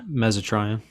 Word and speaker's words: Mesotrione: How you say it? Mesotrione. Yes, sir. Thank you.